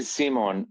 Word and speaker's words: Simon: Is it Simone? It's actually Simon because I'm from Austria, and so as a male in Austria, Simon is pronounced Simon, and a female is Simone.